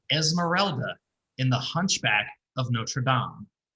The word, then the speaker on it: Notre Dame: Not to be confused with Notre Dame, the school that Rudy attended. Yeah, I will say that is a pet peeve. Anytime somebody pronounces this movie, The Hunchback of Notre Dame, I'm like, no, it's not. Yeah, it's mostly New Yorkers, I find.